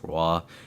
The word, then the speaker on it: Roy: I'm pretty positive it's pronounced Roy, with Cale Makar, drafted 4th overall by Colorado, obviously.